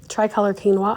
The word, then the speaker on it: quinoa: Another thing I have been really enjoying lately is the triolor quinoa or quinoa. Sorry, I always say it wrong. Quinoa.